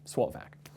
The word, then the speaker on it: SWOTVAC: So it's all been cut up there, and you can see that we pronounce it as the word, SWOTVAC.